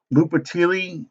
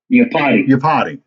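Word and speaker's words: Iupati: um, Mike, oh man, I am going to butcher these. Lupatili, Lupati, the guard from the Seahawks, 33 years old. Yapati. What is it? Yapati.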